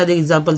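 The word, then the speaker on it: exam: अब इसका एग्जाम्पल देखिए, ई एक्स ए एम, तो इसको क्या पढ़ेंगे, एग्जाम, यानी एक्स को यहाँ एग्जा के रूप में इस्तेमाल हो, एग्जाम पढ़ गया।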